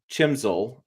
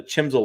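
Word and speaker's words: CHMSL: lamp the second the I'm say chis chimel is the right way to say it there was no chimel lamp I didn't want to turn the chimel lamp on the bed Tik Tock police corrected me on chimel so I had I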